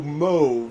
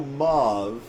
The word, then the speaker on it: mauve: of people won't but if I say the word mauve there's people that didn't know mo but do know Ma or even muav even though MO is the correct pronunciation of that color so that's that's always